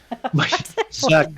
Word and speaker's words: Zuck: Zuck's pretty good, right? Yeah. He rhymes with suck, right?